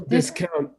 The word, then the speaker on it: discount: discount okay they will discount like we gotta uh we gotta accent the second syllable right they will discount the